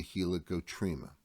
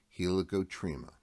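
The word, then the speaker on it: helicotrema: very end of the cochlea is called the helicoptrima that is spelled h e l i c o t r e m a helicoptrima it's not listed on our slide and it's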